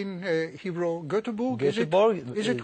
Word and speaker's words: Göteborg: Yeah, we say in Hebrew Göteborg. Is it correct? That's correct. Göteborg would be Göteborg. Okay. Would be the correct pronunciation.